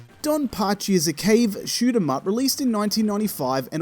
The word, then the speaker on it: Cave: first sentence I say I say don pachi is at cave shoot them up it sounds like a K shoot them up or what is a case shoot them up I don't